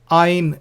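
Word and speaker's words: Ayin: Ain is silent.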